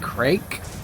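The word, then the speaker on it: craic: It looks like the word crack. And a lot of Irish people pronounce it crack, but I think it's supposed to be pronounced like Craig or something like that, which literally means having a good time.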